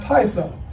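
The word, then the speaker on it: peitho: And this portion of Scripture is actually the word P-E-I-T-H-O. It's pronounced Pytho.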